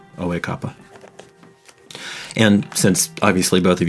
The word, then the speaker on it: Oekapa: My title is Oekapa. Can you spell that? Sure. I'm gonna spell it phonetically, and then I'll give you the Ural spelling later. O-H E with the accent mark. Kappa, K-A-P-A. Oekapa.